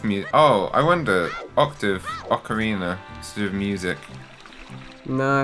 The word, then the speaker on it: Ocarina: Did you ever say Ocarina of Time? Because I feel like a lot of people pronounce it like that.